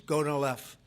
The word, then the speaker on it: Gonal-F: So it's Gonal-F. Is that a proper pronunciation? Very Close well enough, done. right? Very well done.